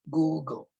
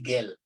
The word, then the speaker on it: Google: So, so it should be Google. Google, hindi Gel. Because if you say Gel, nilagyan mo ng extra syllable sa gitna, parang GEL, Gel, Google.